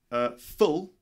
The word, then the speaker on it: full: fool for example okay so ful short sound and fool the long sound for example the room